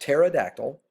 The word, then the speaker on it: pterodactyl: no that's a pterodactyl the first letter is not T it's pronounced pterodactyl but the first letter is P the P is silent okay now pto s